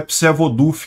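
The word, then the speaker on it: Przewodów: responsabilizo tá gente mas segundo dizem é psod duf que se pronuncia isso daqui repara que é próxima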